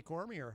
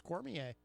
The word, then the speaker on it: Cormier: mispronounce that they say Cormier I have it on good authority it's Cormier like a fine wine Kayne cormier it is